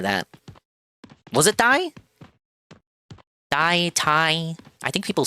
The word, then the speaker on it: Thai: Thai. I think people say Thai. The H is silent.